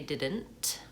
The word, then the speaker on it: didn't: T sa didn't and the N in that word is kind of a syllabic n which means that there's really no vowel sounds there and that syllable so one syllable is did and the next syllable is and so I go right from the D to the N and there's there's no vowel or very little about kind of like a little schwa there also didn't that